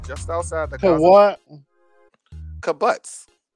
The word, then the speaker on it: kibbutz: Kibbutz. It's kibbutz. How you spell that?